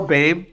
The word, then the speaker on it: Boehm: It's like Kyle Babe, even though it's spelled Boehm. And I'm like, is it really though? I mean, Kyle's name is functionally not okay. Like, whatever happened to that last part of his name, I just look at him, and I think the first time he said it to me, he goes, yeah, it's pronounced Bame, and I go, prove it.